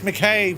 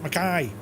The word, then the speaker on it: Mackay: It's like McKay, but Mackay. See, I know stuff, lads.